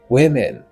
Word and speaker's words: women: Non, mot ça gagne deux syllabes. Dans la première syllabe, là, on a un son E qui c'est un short vowel sound. Et dans la deuxième syllabe, là, on a un son E toujours qui c'est un short vowel sound. Ça veut dire un son voyelle courte.